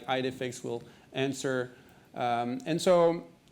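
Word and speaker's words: IDEFICS: edix ID fix like how do you uh how do you pronounce it Victor depends who you talk to okay okay or ID defix all right it's ID fix so check it out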